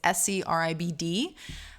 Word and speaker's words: Scribd: I've heard some discrepancy over how that's pronounced. It's Scribd.